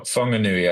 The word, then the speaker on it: Whanganui: I don't know if I'm going to pronounce it correctly. The Wanganui. Well, Whanganui, I think, is how I've Okay.